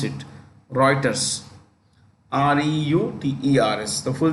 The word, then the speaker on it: Reuters: for a company called Reuters that's how you pronounce it Reuters r-e-u-t-e-r-s the full name is Thomson Reuters but